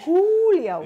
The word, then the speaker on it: Whoolio: Yeah, make sure you spell it right. Exactly. Not just N-H. Julio.